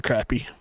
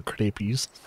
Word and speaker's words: crappie: fish to catch yeah you can either pronounce it crappy or cpies this it depends on where you're from Americans I think most